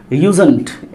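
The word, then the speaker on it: usedn't: हमारा बनेगा, बोलो क्या, यूजेंट। यहाँ डी साइलेंट है, इसको पढ़ते हैं यूजेंट।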